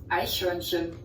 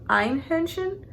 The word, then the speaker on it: Eichhörnchen: somewhere in there, because I used to pronounce it as like Einhörnchen. I don't know. Maybe it's because my brain just interpreted it as like a Ein instead of Eichhörnchen.